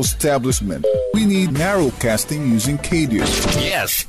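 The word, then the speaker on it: CADIO: It's pronounced KDU.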